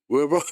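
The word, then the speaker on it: Warburg: 이게 1923년도에 노벨상 바르부르그. 근데 저는 독일에서 공부를 했기 때문에 바르부르그라고 하는데 영국식으로 아니 미국식으로 발음해서 웨버 이렇게 하더라고요.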